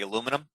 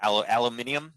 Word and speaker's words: aluminium: The aluminum or aluminium, depending on who says it, right? I just say aluminum. I'm probably saying it wrong, but the aluminium is how I guess the English say it.